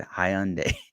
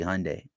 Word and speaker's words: Hyundai: Somebody is laughing at me because I pronounced Hyundai wrong because I said Hyundai. It's supposed to be Hyundai.